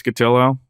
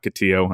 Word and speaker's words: Cotillo: On Twitter at Chris Cotillo. Rhymes with pillow, not Cotillo, as many people think.